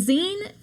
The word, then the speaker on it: zine: And Zen is spelled Z I N E, like the end of the word magazine.